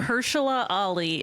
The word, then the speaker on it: Mahershala Ali: First off, how do you pronounce his name? His name is properly? Mahershala Ali, and he's the greatest actor of our generation.